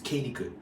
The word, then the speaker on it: Kennecott: Sorry, it's not pronounced Conic, it's Kennecott.